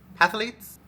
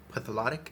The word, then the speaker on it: phthalate: Paraben, latex, dye, sulfate, and how do I pronounce that word? Pilates free? Pathalates? Let's see how you say this. Google. pH2 halate. It says it's a salt or ester of phthalate acid.